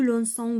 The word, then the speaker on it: lançons: ici mardi alors regardez j'ai ajouté ceci dit pour éviter de prononcer le son k d'accord alors je lance tu lances il lance nous lançons voulons c'est élance avec